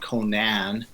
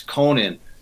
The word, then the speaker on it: Conan: to set this straight his name not Conan its Conan it's absolutely pronin based on you know the Irish pronunciation and his girlfriend at